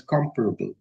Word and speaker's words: comparable: But if you add the suffix able, it becomes comparable. The stress shifts to the first syllable.